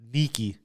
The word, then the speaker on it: Niki: Niki. Niki. Nikki. No. Niki. Niki. Niki. Okay. Yeah, Neaky. Niki. Neaky. Okay. I think it's spelled like that. Okay. Niki, right? Uh-huh. It's supposed to be freaky and sneaky.